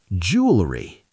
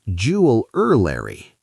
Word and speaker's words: jewelry: Jewelry. Oh, like rings and necklaces? Yes, but many people say jewelry. With 4 syllables? Right, but it's only 3 syllables.